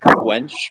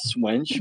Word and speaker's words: Cwench: I Technically, it's pronounced Quench, but I want to say Swench because that's how it's spelled.